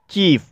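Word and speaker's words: chief: जैसे चीफ, चीफ शब्द में दो कॉन्सोनेंट के बीच आईई आया है और यहाँ पर आईई का उच्चारण ई हुआ है, और चीफ मिस होता है मुख्य।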